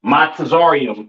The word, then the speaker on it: Mizraim: Uh, Mizraim, all right, aka your Egyptians, all right, pronounce Matazarium in the Hebrew, Matazarium in the Hebrew, all right.